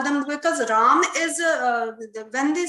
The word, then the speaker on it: Ram: do we call them Rama Krishna Ashoka like this this is wrong we should not fall prey to English language and we should continue to pronounce as we have been taught by our forefathers Rama should not be